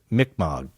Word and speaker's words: Mi'kmaq: No, but I've heard it generally pronounced Mi'kmaq.